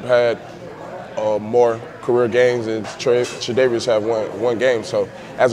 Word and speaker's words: Tre'Davious: Tre'Davious. How do we pronounce it? Tre'Davious.